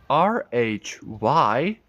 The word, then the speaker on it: rhythm: Remember, when there's an H in these positions, it always softens some letters.